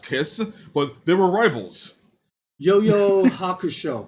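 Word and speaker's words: 幽遊白書: Yo-Yo Hakusho. Yu Yu Hakusho, yeah. Yeah, Yu-Yu is how it's pronounced? I believe it's called, well, I pronounce it Yu Yu. Okay, well, Yo-Yo or Yu-Yu, it's Yu-Yu Hakusho.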